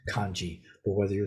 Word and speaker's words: kanji: characters uh and so in Mandarin itself this would be pronounced hanza something like hanza and in uh Japanese this is pronounce kanji but whether you're saying